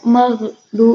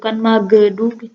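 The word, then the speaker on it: المغضوب: Jadi bacanya tuh maghdu, bukan magedu, tapi maghdubi alaihim.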